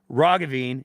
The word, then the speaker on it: Rogan: or sorry not Doctor John Rogan it's a hard G you'll understand why that's